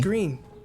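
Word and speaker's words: Greene: When you look at her, That's Remy, Green, with the silent E right here.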